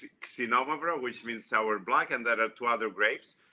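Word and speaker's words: Xinomavro: The first one, we pronounce it, oh, nice sound. Nice sound. Xenomavra, which means sour black, and there are 2 other grapes.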